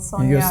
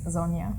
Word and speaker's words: Sonja: Yeah, I'm used to being called Sonja in every other country, but yeah, it is Sonja.